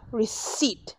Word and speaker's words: receipt: you will get a receipt remember the P is silent your receipt is in D in